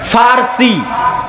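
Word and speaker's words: فرس: আর একদিকে পারস্য, পারস্য মানে ফার্সি, বাংলায় বলে প, কিন্তু ওটাই আরবিতে আছে ফার্সি, ফুরস। কেন আরবিতে পর কোনো উচ্চারণ নাই, আরবিতে পর কোনো উচ্চারণ নাই, সেটা আমরা পারস্য বলতেছি, ওটাই আরবিতে বলে ফুরস, ফার্সি।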